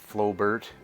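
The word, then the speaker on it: Flobert: If you do look up Flowbert, that's how it's spelled, Flowbert, F-L-O-B-E-R-T.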